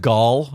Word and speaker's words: Gal: It's pronounced Gall. It's actually Gall.